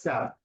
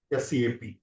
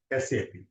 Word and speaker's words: SAP: Here some people call it as SAP. No, you should not pronounce as SAP. Always we have to pronounce with the separate letters like SAP. Right? You have to always pronounce as SAP.